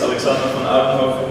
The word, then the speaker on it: Alexander van Oudenhoven: My name is Alexander van Oudenhoven, that's how you pronounce it with your Dutch, but you don't have to worry about that.